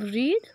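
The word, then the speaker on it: read: रीडी होता है, तो स्पेलिंग सबकी सेम होती है, बस प्रोनंसिएशन चेंज होता है। तो ये थर्ड फॉर्म जो रीड होता है, इसे रीडी बोलते हैं।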